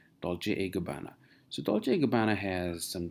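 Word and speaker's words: Dolce & Gabbana: Gabanna and it's called dolce gabbana and it's not and it's Italian it's pronounced as a dolce gabbana so dolce gabbana has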